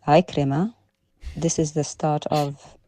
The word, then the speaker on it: Ikrima: About a hadith an Akrama. It's Ikrima.